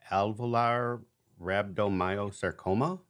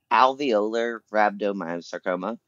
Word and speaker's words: alveolar rhabdomyosarcoma: diagnosis and also and forgive me if I'm pronouncing this wrong Al Valar rhabdomyosarcoma also called very close uh okay yeah it's alveolar rhabdomyosarcoma so it is a soft